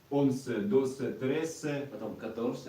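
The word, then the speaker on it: once: Онсе. Онсе, досе, трессе, Потом 14 и каторсе, 15.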